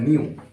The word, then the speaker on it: knew: और second form होता है न्यू। दोस्तों इसमें के साइलेंट है, के साइलेंट है, के हम नहीं पढ़ते हैं, सिर्फ हम इसे न्यू पढ़ेंगे, ठीक है।